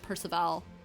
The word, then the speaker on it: Perceval: be wrong I've heard I've heard it pronounced Perceval as if it was French but the person that